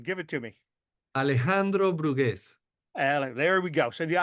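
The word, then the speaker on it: Alejandro Brugués: so we already you already the the correct pronunciation give it to me Alejandro buges there we go so yeah everyone knows now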